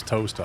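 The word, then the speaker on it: Towcester: Andy lad on earth towester is toaster. I don't know. There's a place called Berg near me and it's pronounced Burough based on the Ed rule.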